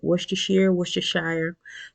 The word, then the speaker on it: Worcestershire: Worcestershire.